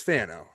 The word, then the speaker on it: Fano: Um actually pronouncing that right. Not Feno, it's Fano.